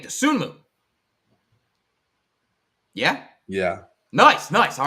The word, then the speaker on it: Dosunmu: or less exactly I really like hey yo dosunmu I assume that's how you say his name dosunmu yeah yeah nice nice all right I was